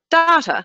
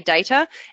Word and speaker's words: data: But in New Zealand, where I'm from, we actually pronounce this word data. Now, I promise you, I've tried to retrain myself to say data, and I've set myself